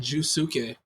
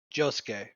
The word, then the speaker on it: Josuke: I want to say between Giorno and Jusuke. Josuke.